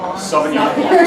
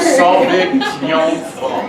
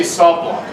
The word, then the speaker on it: Sauvignon Blanc: So think of it, Sauvignon Blanc. Sauvignon Blanc. Sauvignon Blanc. It's a French pronunciation of a French grape. Hey, no, you gotta say Sauv Blanc.